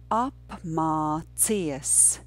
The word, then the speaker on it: apmācies: The last two syllables together would be mācies, mācies. And the first syllable is up. It's very simple. Up, up. So the first two syllables would be apmā, apmā, apmā. Can we say that? Apmā. Let's say it twice. Apmā, apmā. Very good. And now let's add that difficult syllable cies. Apmācies.